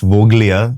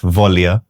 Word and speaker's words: Voglia: And it's, just for the record, it's not pronounced Voglia, beech mein jo G hai, wo silent hai. So it's actually pronounced Volia.